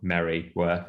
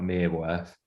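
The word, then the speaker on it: Mereworth: um and which is not spelt merry worth it's spelt mere worth but that i think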